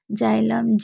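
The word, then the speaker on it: xylem: जान लेते हैं जैसे जाइलम नोल एक्स रे तो इसमें आप जान सकते हैं कि सभी में शुरू में है तो हम क्या पढ़ रहे हैं जा पढ़ रहे हैं तो ध्यान से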